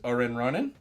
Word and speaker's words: Orenronen: Rona 2 um let me know if I pronounce this right your name is Orin Ronin that's about right yeah and I don't think